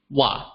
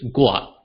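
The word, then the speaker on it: 我: However, did you know that an academic pronunciation of me or myself in Hokkien is gua with a G, right?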